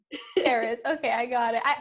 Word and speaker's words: Cerys: If you say it in a Welsh accent, it's like CERYS, but CERYS is fine. CERYS.